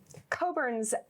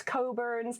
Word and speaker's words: Cockburn's: So Cockburn's, it's one of the brands that I represent that we can have a little bit of humor with. The CK is silent. It's not Cockburn. It's Cockburn's.